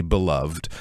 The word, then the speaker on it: beloved: When something is beloved, and we often do sort of stress that last syllable there, you could also say beloved, but often when we're